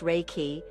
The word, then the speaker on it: Reiki: Um, so that's awesome that you're a Raiki master and I'm sure that you use that in your massage therapy. So that's honestly so cool. Reiki, pronounced Reiki, is an ancient Japanese healing technique that channels